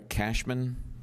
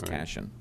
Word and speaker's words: Cashin: Sandra Cashman. Cashin, yeah, it's spelled incorrectly here on the form. It's Cashin.